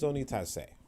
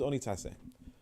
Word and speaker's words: Onitase: fine my name is onitase look at the ladder um the latter syllables are the uh the the last two syllables right tase right spell it